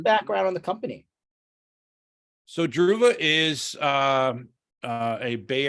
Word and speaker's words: Druva: heard of I hope I'm saying it right druva you got it right awesome what what's you